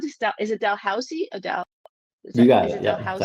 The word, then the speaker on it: Dalhousie: And the authors for the systematic review, Cameron Penny, Connor McGuire, and Michael Bazzuli from how do you pronounce this? Is it Dalhousie?